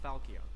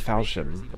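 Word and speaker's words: Falchion: like marth's sacred sword the falcao so that's how it's pronounced i thought it was falcon falcon or something and his special the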